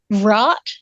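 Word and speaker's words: bhrat: it you you take What's called the rot and that's spelled b-h-r-a-t and it uh it's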